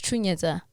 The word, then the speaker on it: Chanetsa: So today we're going to be chatting to Munya Chanetsa. Chanetsa. No, it's Chanetsa. Chanetsa. Hey, I keep getting it wrong.